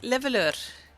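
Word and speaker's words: Leveilleur: Abe keeps on giving me pointers like how to pronounce it and just get like leveleur.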